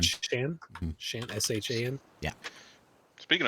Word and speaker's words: Shan: His name's Shan. Shan?